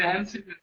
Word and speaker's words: ANSI: You say like Yancy, not SQL. What is? See, observe. Observe. Okay, ANSI. See, ANSI value, right? Today you are confusing me. ANSI.